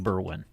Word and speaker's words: Berwyn: How were you pronouncing Berwyn? It wasn't Berwyn. Oh, that's all I can say. It wasn't close to Berwyn. Well, he got the burr right.